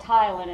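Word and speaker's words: ptyalin: but the one called Tylan is only made by your salivary glands so and notice the p is silent and the Y is long so it says it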